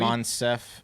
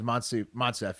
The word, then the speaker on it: Moncef: Monsef. Slaoui? I think it's Monsef, yeah, like West.